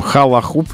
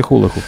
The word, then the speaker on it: хулахуп: Халахуп или хулахуп. Это обруч. Хула. Хула. Ну, есть вариант. Все равно английское слово, можно и халахуп говорить. Но я... в русском языке хулахуп называется.